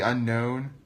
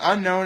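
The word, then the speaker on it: Unown: Well, for one thing, unknown is spelled U-N-O-W-N.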